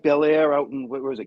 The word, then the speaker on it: Bellaire: Is that anything like Bellaire out in, where was it, California or anything? Kind of almost spelled the same, but it's Bellaire, one word, not Bel Air.